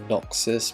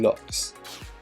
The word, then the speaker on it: Lox: I can without the Noxes, but I really wish I had the Noxes. Or is it Lox? Oh, I've been saying it wrong, it's been Lox.